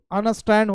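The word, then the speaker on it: understand: का उच्चारण नहीं कीजिएगा इसमें डी का उच्चारण नहीं कीजिएगा यानी आपको थोड़ा नाक से बोलना होगा अंडरस्टैंड अंडरस्टैंड अंडरस्टैंड जिस प्रकार इसमें डी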